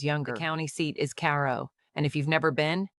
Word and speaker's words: Cairo: The county seat is Caro, and if you've never been, know that locals don't pronounce it like Egypt.